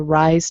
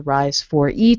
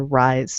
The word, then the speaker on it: RIS4E: in charge of the rise team which you may have heard pronounced as the rise 4E team um but the four is actually silent um so there's a